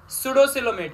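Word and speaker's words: pseudocoelomate: सुडोसिलोमेट है, और पी यहाँ पे साइलेंट है।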